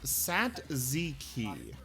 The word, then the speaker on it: tzatziki: Oh, it's apparently pronounced Satziki. Interesting. I don't know why they pronounce it like that. I've always heard it pronounced this way.